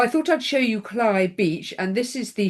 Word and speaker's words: Cley: We also have some funny pronunciations of names in Norfolk, and this, as I said, this is Cley Beach, which is Cley, pronounced Cley. And there's Cromer Pier in all its glory, which is where you will end your Norfolk Coast Path walk.